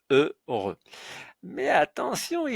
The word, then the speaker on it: heureux: Mais pour nous, cela n'a aucune importance puisque le H ne se prononce pas. Donc, on le met de côté pour la prononciation. On retient E, heureux. Voilà, ce mot-là se prononce heureux.